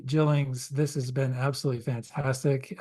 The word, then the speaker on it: Gillings: Well, Bowen, Soft G Gillings, this has been absolutely fantastic.